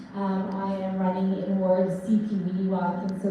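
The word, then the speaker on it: Sipiwiyiniwak: I am running in Ward CP Weeniwak, and so the easiest way to pronounce it is ABC, so C, P, elemental P, Ween like Halloween, and Ewok like Star Wars. So CP Weeniwak is the best way to pronounce it.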